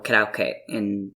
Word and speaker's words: karaoke: So I don't do karaoke, or karaoke, as it's actually supposed to be pronounced.